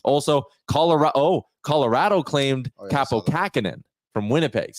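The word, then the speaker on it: Kaapo Kähkönen: color oh Colorado claimed kappo kakenan from Winnipeg they say his name cap Capo kaken yes um he was good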